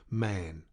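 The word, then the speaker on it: Mahon: snow white long beard and his name was marn but he insisted that it should be pronounced man he was well connected yet there was something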